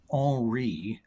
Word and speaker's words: Henri: The number one system is the Henri, French pronunciation, system.